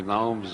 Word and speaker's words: gnomes: As far as I know, he's the only one who ever pronounced the G in that word. He always pronounced the gnomes of Zurich, by which he meant the big Swiss banks.